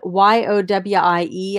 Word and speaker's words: Yowie: little this guy is it is yowie y-o-w-i-e i might be pronouncing that wrong but i think it's yowie and it's a little